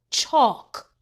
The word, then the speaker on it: chalk: L K says C. The L is silent. Chalk.